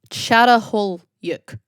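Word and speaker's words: Çatalhöyük: I might butcher the name. Chatolyuk. Chatolyuk I believe is how you say it.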